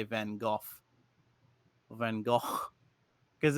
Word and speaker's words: Van Gogh: the germanic roots um in the united states it usually rhymes with snow and in new england